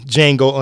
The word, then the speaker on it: Django: keep saying Django but we know the D is silent so D Jango Unchained well ironically I haven't seen the movie Jango Unchained yet but understand